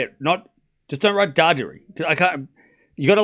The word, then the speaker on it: Darderi: No, it's Darderi. Darderi. Darderi. Darderi. Darderi. It's 2-1 Darderi. Darderi. I mean, Darderi does say his name both ways. Okay. Darderi. You skip the R. There's 2 R's.